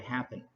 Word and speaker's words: happen: The bottom of the lake មានន័យថាបាតបឹងណា lake បកថាបឹងពាក្យមួយទៀតគឺពាក្យ occur អញ្ចឹងយើងសង្កត់លើព្យាង្គទី2 so we pronounce occur ជា verb វាបកថាកើតឡើងដែលមានន័យដូចគ្នាជាមួយនឹងពាក្យ happen ហើយពាក្យ happen គឺយើងសង្កត់លើព្យាង្គទី1 so we say happen occur happen ឧទាហរណ៍ when